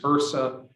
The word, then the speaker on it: HRSA: you can contact us this is hersa that's how we pronounce it and please go there